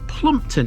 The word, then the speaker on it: Plompton: Through time, Plompton has been variously spelt and pronounced, and that's why some of you Harrogate natives might know this as Plumpton instead.